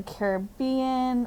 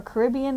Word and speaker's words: Caribbean: Florida there's flamingos in the Caribbean or Caribbean depending on how you say it there's also in South